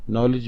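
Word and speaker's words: knowledge: जी silent letter है नॉलेज नॉलेज में के और दी दोनों साइलेंट लेटर्स हैं चक चक में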